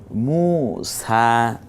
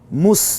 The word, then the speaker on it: মুসা: এটা কোরআনেরই আয়াত ইছা মুসা হ্যাঁ মুস বলবো না মুসা এই জবরটা সহ এক আলিফ টেনে বলবো ইউলা তগ এই শব্দগুলো